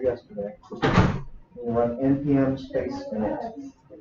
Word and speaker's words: init: We'll run npm space init. Init, like initialization. No I.